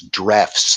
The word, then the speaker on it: Drews: It looks like in English pronunciation, I think it's Drefts, though.